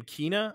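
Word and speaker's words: Kena: uh uh so they they pronounced the character's Nam Kina I think yeah um Kina Bridge of spirits is what it's it's called Uh I've been calling it Kenna so you know I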